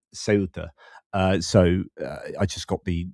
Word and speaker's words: Ceuta: A Spanish call it Feuta, um if they are from so of most of Spain, but then Andalusia I said pronounces a th, but they don't. It's the other way around and they would pronounce it um, Ceuta.